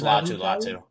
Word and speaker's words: Latu: It's just Latu. Latu. It's spelled the same, so that makes sense.